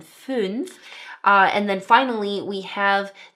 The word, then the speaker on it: fünf: So the number 'zwölf' (12) has the umlauted ö and then the number 'fünf' (5) has the umlauted ü. So it's 'zwölf' and 'fünf' And then finally we